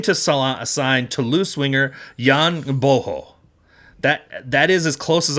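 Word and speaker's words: Gboho: As far as I understand, the G is silent, but it's also a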